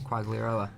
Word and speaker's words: Quagliarella: Quagliarella.